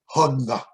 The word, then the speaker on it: Hugna: human understanding, which was to be pronounced in a consonant type fashion, but gutturally. Hugna.